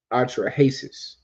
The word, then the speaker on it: Atrahasis: Atrahasis. That's how you pronounce it.